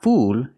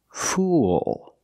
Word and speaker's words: fool: stupid person and pronunciation it's not fool it's fool use the dark L at the end link The Sounds ooh with a dark L it makes an extra sound listen fool fool a fool is a